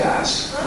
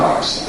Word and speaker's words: ass: He once told me, he goes, James, say ass. It's not arse, it's ass. You say it like the rest of the world.